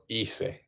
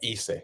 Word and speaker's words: hice: Like if you say yo hice, you don't. It's spelled Hize, but you just ignore it. It's like hice. It's like you just ignore it pretty much. Yeah, it doesn't sound at all.